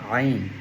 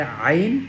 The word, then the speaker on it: ع: এরপরে আইন ওয়াও পেশ উইনের উচ্চারণ গলার মধ্যখান থেকে দুই নাম্বার মাখরাজ আমরা যারা এটা বুঝি